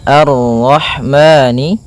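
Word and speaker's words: الرحمن: Maka kita baca dengan bacaan al sebagaimana yang di atas al. Kemudian ini bertemu dengan huruf ro yang berharakat tasydid. Maka rnya kita baca dengan tafkhim. Arho arro a arrahman.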